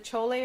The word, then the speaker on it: chole: So that's why I call this dish chole, because if you ever went to an Indian restaurant and you saw that it said chole on it, that's what this is going to be. And that's spelled It's CHOLAY. chole.